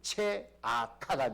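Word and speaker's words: צְעָקָה: 공의라는 단어는요 히브리어로 체다카입니다. 체다카인데 부르짖음이라는 단어는 체아카가 됩니다. 여러분 비슷하잖아요. 두 단어는 의미는 다른데요 발음은 비슷합니다.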